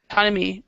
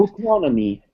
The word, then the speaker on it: autonomy: Yeah, it's not autonomy. It's actually pronounced autonomy. So this first syllable here is autonomy. So the stress is in this syllable and in this syllable.